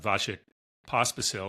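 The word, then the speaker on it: Vasek Pospisil: The PTPA was founded only in 2020 by NovakJokovic and Vashik Pospasil. I think I got that pronounced right.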